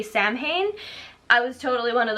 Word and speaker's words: Samhain: is actually based on a Celtic holiday called Samhain. Everyone pronounces it wrong. It's S-A-M-H-A-I-N, so a lot of people say Samhain.